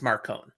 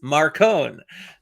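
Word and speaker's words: Marcone: pronounce Marone Marone and it was confirmed it's Marone but it's Johnny Marone no it's not it is Marone for the record thank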